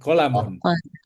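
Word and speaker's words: قلم: Lamnya pendek. Qolamun.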